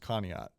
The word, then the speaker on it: Conneaut: I just learned that that's pronounced Conneaut. I'm picking them 35-14. I'm taking Conneaut 41-36.